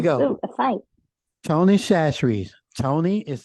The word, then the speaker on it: Chachere's: say, you do not pronounce it, you do not pronounce the Chachere's. You don't get the CH sound. You use like the SH sound when you enunciate it.